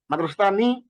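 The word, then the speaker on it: مدرستانِ: অর্থ হল অনেকগুলো বই মাদসাতানি এর সঠিক উচ্চারণ কোনটি মাদ্রাসা মাদ্রাসাতানি মাদ্রাসাতান উপরে কোনটি নয় মাদ্রাসাত নি তারমানে নুনজের নি নুন কাসরা নি এটা আমরা শিখে ফেললাম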